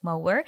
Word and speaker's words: Moher: So it's spelled like Moher, but what I learned is the Irish pronunciation would be the Cliffs of Moher, and they are very famous because they were portrayed like in several movies, Harry Potter included.